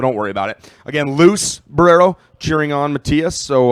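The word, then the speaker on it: Luz: it's luu Z and it's actually pronounced loose right that's matias's mom's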